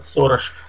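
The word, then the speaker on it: Soros: Сороса, как вы говорите, он произносится Сорош, в Венгрии, во всяком случае, я лично знаю.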